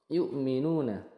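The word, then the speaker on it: يُؤْمِنُونَ: dua harakat yukminu ee Ini saya mau garis bawahi yang Hamzah sukun hati-hati jangan sampai seperti Ain Yu tapi Hamzah yuk nah yukminuna kemudian yukminunu dua harakat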